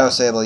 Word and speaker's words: Au Sable: however you say it how do you say it um oh sable or something like that oh sable yeah that's right because i i just